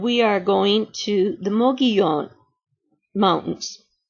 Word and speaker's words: Mogollon: are going to the Mogollon Mountains. I know it is spelled M-O-G-O-L-L-O-N, and it is pronounced Mogollon.